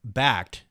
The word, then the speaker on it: Bakkt: don't know if you've been following this, but Bakkt, which is spelled BAKKT, platform that is being released by